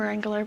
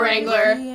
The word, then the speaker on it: Wrangler: Find out all that and more on Rumor Wrangler. The W is silent.